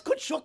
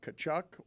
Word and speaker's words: Tkachuk: Put it on the poll, Juju, at LeBatard Show, Tkachuk or Tkachuk, because that's a famous hockey name, and I've been pronouncing it wrong my entire life. I've always thought it's Tkachuk.